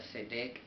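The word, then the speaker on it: צדק: Y esta palabra se transforma entonces al H6664, el cual se pronuncia Sedec, y pues esta significancia nos dice rectitud, derecho,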